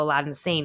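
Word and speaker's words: Aladdin Sane: that's his alter ego Aladdin San which it spelled like Aladdin in the magic lap Aladdin but it's like a lad insane and I was like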